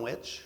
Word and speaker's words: Wyche: so Wyche? I call him Witch, That's all right. W-Y-C-H-E. I think there's a local family that has a different pronunciation. But so William Witch was a young attorney